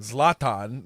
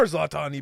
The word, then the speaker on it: Zlatan: You pronounced both of his names wrong. First of all, How do you say it? Zlatan.